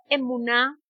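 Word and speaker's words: אמונה: No sé si me puedes colocar allí en pantalla esa palabra emuná. ¿Cómo suena? ¿Cómo suena? No tiene. Emuná. Son tres sílabas que conforman la palabra fidelidad.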